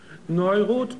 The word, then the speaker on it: Neuroth: Ja, wie neurotisch, aber ohne ich. Neuroth und dieser Mann verschönert Menschen durch plastische Chirurgie.